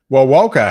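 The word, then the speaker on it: Wewoka: then maybe eventually over toward wilwoka as well well woka hey i'm pretty impressed you pronounced that correctly uh looks like there's a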